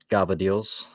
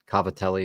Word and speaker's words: Cavatelli: good it's better Richard have you ever had Gava deals I don't even know what the that is so no I have not what is it caver Cavatelli is what it's like spelled like what is